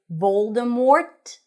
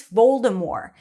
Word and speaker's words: Voldemort: Now, I know that in the movie they say Voldemort with a T, but apparently the author J.K. Rowling has confirmed that the T is not pronounced.